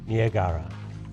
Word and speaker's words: Niagara: a North American L of Niagara or Nia Gaara as Skinner would have us pronounce it this is